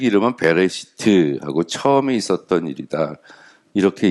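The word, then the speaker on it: בראשית: 뜻입니다 뭐뭐 안에 그래서 배 레 시트라고 읽어요 베레시트 그래서 영어로 하면은 뭐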